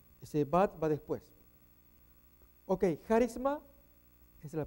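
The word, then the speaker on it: χάρισμα: Ok, charisma, esa es la pronunciación.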